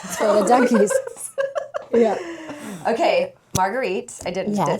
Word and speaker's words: Marguerite: Okay, Marguerite.